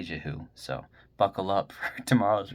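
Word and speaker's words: Jehu: I probably pronounced that wrong. J E H U. Jahoo. I'm gonna say Jahoo.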